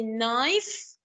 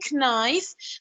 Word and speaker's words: knife: The K, we usually put it, or we always put it at the beginning, like when we say knife, we write the K. We don't say knife, but we write the K.